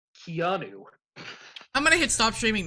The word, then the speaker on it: Keanu: It's pronounced Keanu.